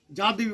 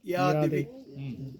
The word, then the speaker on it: যদা: টিভিতে চণ্ডী পাঠের সময় শুনবেন, যা দেবী বলবো না, ইয়া দেবী। যুগে যুগে বলবো না, উগে উগে। যদা যদে বলবো না, ইয়াদা ইয়াদাহি। লেখা থাকবে অন্তস্থ যদা, উচ্চারণ হবে ইয়।